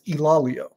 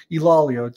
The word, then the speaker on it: Ilaleo: player answering questions, and he said it's Ilaleo. So he says people make it multiple syllables, not technically correct. Ilaleo.